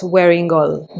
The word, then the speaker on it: Wearingeul: And I would pronounce this as Wearingeul because the last syllable, E-U-L, is pronounced as ol. in Korean.